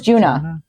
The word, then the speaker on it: Djuna: Because it's DG or DJUNA. And I don't remember how they were pronouncing it. Juna or Juna. It was Juna.